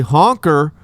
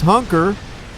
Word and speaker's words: hunker: he likes to say honker and that's not how you say it it's hunker because uh we're not a